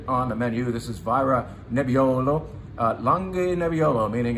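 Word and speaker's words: Vajra: this time representing Italy is a wine from VRA V A J R A is how you pronounce that I think I told you about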